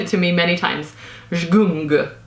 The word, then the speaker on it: Zgung: Zgung, I think is the right way to pronounce.